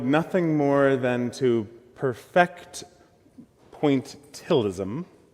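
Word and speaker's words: pointillism: Phil Hansen is an artist who wanted nothing more than to perfect pointilism. I always want to throw an extra syllable into that word poalism.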